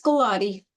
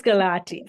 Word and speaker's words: Gulati: No, it's Gulati. It's Gulati.